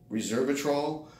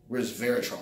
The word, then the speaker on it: resveratrol: the gym now there's also reservatrol which is no reason pronounced resveratrol I always had a problem with that word that it's basically